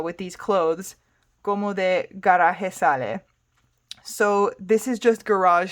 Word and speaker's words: garaje sale: So, con esa ropita, with these clothes, como de garaje sale. So this is just garage sale in English, but she's pronouncing it as if it was a Spanish word, not an English word.